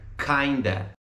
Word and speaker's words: kinda: A pronúncia de kind of, quando a gente fala ele numa frase, fica kinda.